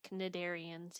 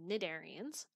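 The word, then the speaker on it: Cnidarians: our list is the nedarians nadarians um and the way that this term is pronounced is with a silent c you don't say canadarians you say nedarians uh so nadarians are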